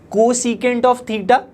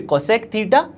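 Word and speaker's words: cosecant: लेकिन इसको आप सही तरीके से कैसे बोल सकते हो, कोसिकेंट ऑफ थीटा, सीकेंट ऑफ थीटा, या फिर कोसेक थीटा, सेक थीटा।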